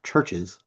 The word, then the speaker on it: Chvrches: The next song is How Not to Drown by Churches. Churches spelled Chvrches. It is pronounced churches.